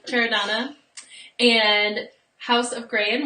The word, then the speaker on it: Chiaradonna: I just had lessons on how to say this name. Chiaradonna.